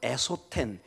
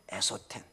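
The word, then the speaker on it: ἔσωθεν: 보면 굉장히 소리가 비슷합니다 것은 엑소 텐 속은 에소 텐 거의 발음이 비슷합니다 그래서 거의 구별이 안 되는 것처럼 보입니다 그러나 극명하게 지금 대조 되고 있습니다 엑소 팬 에소텍 언뜻 보면 이게 비슷해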